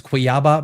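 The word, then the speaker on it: Cuiabá: Let me check the pronunciation just to make sure. Quiaba. Quiaba. My apologies. It's Quiaba. Brazil.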